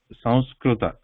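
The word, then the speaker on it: संस्कृत: So we don't pronounce it as samsa. Okay? So we do not. Though in English we write like this, the pronunciation is not ma sound.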